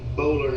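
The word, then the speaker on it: Boulware: that my friend Barrett Bowler has. That's who he works for. Barrett Bowler. Yeah, Junior. Yeah, I spell It's Bowler is how it looks. B-O-U-L-W-A-R-E.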